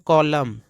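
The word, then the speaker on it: column: कलर मतलब दोस्तों रंग इसको पढ़ते हैं कॉलम ध्यान दीजिएगा कॉलमन मत पढ़िए यह एन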